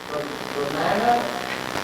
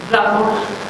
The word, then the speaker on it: Ramona: Your name is Romana? My name's One you can't pronounce. It's Ramona.